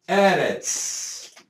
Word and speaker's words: Eretz: A tonicidade não está aqui. A tonicidade está aqui. Então, a sílaba tônica é a primeira e não a última.